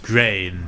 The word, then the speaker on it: Gruene: It just bothers me how they spell it. Like, Oh. Gruene. yeah. Yeah, it's It's weird. weird. But Grain.